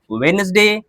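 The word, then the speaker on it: Wednesday: तो bridge, sandwich, वेडनेसडे, handsome. बात समझ में आ गई? यहां पर क्या होता है? डी साइलेंट होता है।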